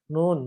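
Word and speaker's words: نون: Jadi kalau misalkan ditanya ini huruf apa, jangan jawab ini huruf na, tapi ini huruf nun gitu. Makanya ketika teman-teman nanti membaca surat Al-Qalam, jangan dibacanya na gitu ya, jangan. Tapi nun gitu.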